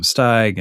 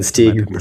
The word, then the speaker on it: Steig: I probably said Steeg for the next half hour, too. No, I'll I'm lucky if someone says it first, and then I know what at least in that interview what it's how you say it. I'm pretty sure it's Steig.